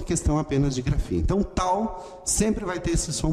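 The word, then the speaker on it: ταῦ: O tau tem o som da letra T em português, como em tem, e é esse som mais forte. T, tal. O nome dessa letra é tal.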